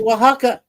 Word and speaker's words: Oaxaca: Wow, she pronounced it correctly. Oaxaca. Yay. So many people get that O word so wrong.